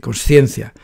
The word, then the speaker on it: consciencia: más fácil de escribir lo más correcto decir consciencia cuando se escribe conciencia